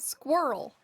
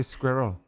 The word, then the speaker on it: squirrel: Well, it is to me when you say squirrel like that. I said squirrel. Say what's wrong with squirrel. Say squirrel. Squirrel. That sounds There you go. You said the whole word. You missed half.